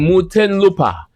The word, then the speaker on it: Muntinlupa: What's how you pronounce that? Muntinlupa.